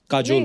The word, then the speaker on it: Kajol: काजोल। काजल है ना? बट काजल होता है। काजोल बंगाली काजल है। ऐसे ही उसका प्रोनाउंसिएशन ऐसा है।